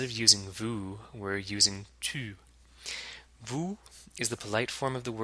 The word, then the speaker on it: tu: And tu has the same vowel sound as the second syllable of salut.